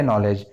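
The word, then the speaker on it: knowledge: अब देखिए नॉलेज, नॉलेज में तो कई साइलेंट है। नॉलेज में के भी साइलेंट है, और ये देखिए जो डी लिखा हुआ है डी भी साइलेंट है।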